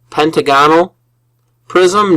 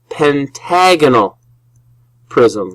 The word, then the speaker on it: pentagonal: So this is a pentagonal prism? No. You have the emphasis on the wrong syllable. That is a pentagonal prism.